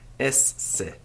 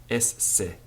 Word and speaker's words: esse: If you're an Italian, you won't have any trouble with this, but English people don't automatically break double letters up into 2 syllables. Get used to doing it. Esse. Esse. Not esse, but esse.